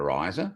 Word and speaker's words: Rizer: you get to the riser which has you know several meanings but one of them is when you use fertilizer you know your wheat your barley rises it grows but also rhymes with fertilizer so we had that